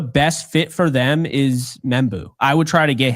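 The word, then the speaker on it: Membou: That's Membu.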